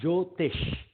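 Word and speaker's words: Jyotish: I I I think I heard you saying jotish is it with the j joish j j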